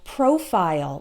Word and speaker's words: profile: American or British so we always pronounce it like Isle in the short words like smile okay pile tile as well as reptile and profile like your Facebook profile